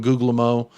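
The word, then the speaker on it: Guglielmo: you're doing well um Mark I pronounce googly Elmo so he pronounced googly Elmo I'm going googlemo the second g is silent the second g is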